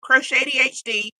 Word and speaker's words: croch80hd: Crow like you know blackbird shady like can't be trusted. Oh wait, hold on. Anyway, that's why you're the evil one. and then HD like high definition.